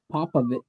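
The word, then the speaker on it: Popovich: how to pronounce it hey look at Greg papovich because when he first started know about him pop a don't pop a pop of it what yeah so the top three teams at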